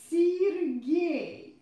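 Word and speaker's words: Сергей: Guys, don't forget that unstressed E represents E sound. So, here I pronounce E every time. Alexander. Sergei.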